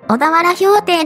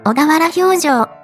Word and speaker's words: 小田原評定: いますちなみに読み方は小田原評定ではなく小田原評定間違えやすいので気をつけてね同じような英語